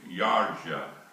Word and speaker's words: Yarsa: But in Hungarian, there's no Y's. But you pronounce a J like a Y. Like, In Hungary, you would say, like a Y, a J. So when he came to America and they signed him up, he told them his name was J-A-R-Z-A, Yarsa.